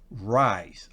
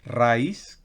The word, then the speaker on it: rice: no no no no la r en inglés siempre es cultural me atrevo a decir siempre porque no recuerdo en este momento es secciones es en inglés la r es cultural entonces no es raíz como es fácil para nosotros en español en inglés es ray rice gutural muy bien la hay